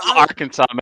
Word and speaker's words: Arkansas: Baja, Arkansas, man.